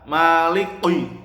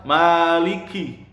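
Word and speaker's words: مَالِكِ: Maliki, kaf bukan qaf. Ya, Maliki, jangan Maliki. Nah, itu salah ya. Salah kaprah itu. Yang benar Maliki.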